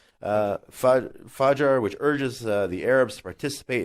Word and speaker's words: fajr: mentioned this protest the great is at fajr pronounced fajr which urges the arabs participate in mass dawn